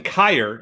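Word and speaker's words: Kier: new basketball recruit uh justin kyr not not cure so of course me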